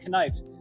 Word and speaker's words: knife: Give to me a knife that I might no longer be confused. I think the K is silent on that, John, right? Not in old English, no.